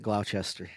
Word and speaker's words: Gloucester: go ahead and pronounce it Gloucester.